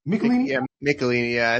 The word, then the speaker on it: Michelini: Yeah, Michelini.